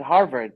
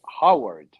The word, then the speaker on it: Howard: So he was pronouncing it Harvard, but it was Howard.